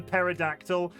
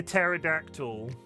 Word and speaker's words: pterodactyl: Because the P at the beginning of pterodactyl is silent.